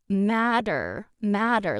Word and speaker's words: matter: They're pronounced in American English, matter, like a D, to not matter.